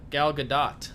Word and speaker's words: Gal Gadot: job banks and and gal gadot that's how you actually say her name is because I recently found that out she was good